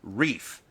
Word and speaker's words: Reif: First, I just wanted to say my last name is pronounced Reef.